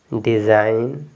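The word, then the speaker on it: design: बाद एन है तो यहां प जी आपका साइलेंट इसको पढ़ेंगे साइन एस आई जी एन साइन डिजाइन रिजाइन और ये क्या है नेट इसको नेट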